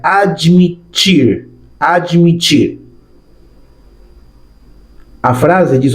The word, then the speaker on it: admitir: Próximo verbo, o verbo admitir. Significa lo mismo que en español, pero mira cómo se pronuncia. Admitir.